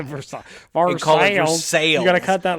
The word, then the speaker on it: Versailles: Tommy, once you get to Columbus, please respect our pronunciation of our bastardization of the pronunciation of the name Versailles. Versailles.